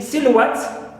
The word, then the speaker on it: silhouette: Also we have at, like in silhouette. So at the end this word also is stressed, right, syllable, and at the same time it is suffix.